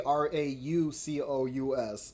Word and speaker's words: raucous: gonna look that up how do you say this raucous no no oh they spelled it wrong it's supposed to be rockets there's there should be that should be r-a-u-c-o-u-s okay so raucous i mean a harsh